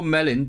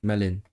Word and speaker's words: melin: And I know Melon because I bought a few books from a publisher called um Se Melon Paper. the paper mill uh books. Yep. So, plural. Melani. Melani. Melin. Not melon.